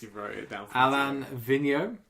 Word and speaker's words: Vigneault: Rangers fired their head coach, if I can get the pronunciation correct for this. You wrote it down. Alain Vigneault. Vigneault.